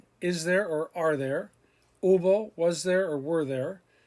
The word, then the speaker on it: hubo: Remember, all of these, the H is silent. Hubo, había, habrá, haber, habido.